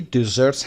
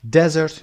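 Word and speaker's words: dessert: دیزرت استرسش روی قسمت دوم ز میگید و قسمت اول صدای ای کشیده تر و صدای دوم ای کوتاه تر هست. desert نمیخونیم.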